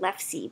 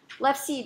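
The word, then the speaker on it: LEfSe: I think I pronounce it LEFSI, but I don't know what people call it.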